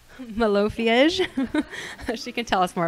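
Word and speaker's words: Malofiej: Cece has won numerous awards, including the, I don't even know how to pronounce that, Malofy? It's a terrible word to pronounce, but Malofiege. Malofiege.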